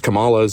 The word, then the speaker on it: Kamala: shill, but like I voted for him because Kamala's Israeli shill, Trump's Israeli shill. Kamala is how you pronounce her name.